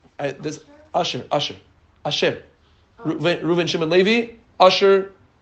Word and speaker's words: Asher: Reuven, Shimon, Levi, Asher, not Asher the performer. Asher the Aleph, Shin, Reish. Asher. Asher. You have to say it like the Satmar. Usher.